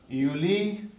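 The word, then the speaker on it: Juli: Or another one, uni, yuli, yeah. So this is quite easy to remember. J is pronounced as Y.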